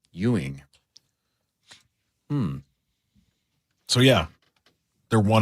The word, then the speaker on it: Ewing: You say Euing? Why' he yell? As in like as in Patrick Euing spelled the same way.